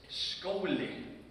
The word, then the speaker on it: skóli: Well, school is skóli in Icelandic.